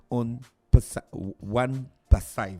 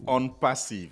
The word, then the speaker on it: OnPassive: Ils viennent nous présenter la compagnie One Passive. C'est ça, monsieur Fernand, j'ai bien prononcé? Bonjour. Bonjour. Pas parfaitement, c'est on passive. Oh, On Passive. Ok, d'accord, voilà. Parce que c'est en anglais.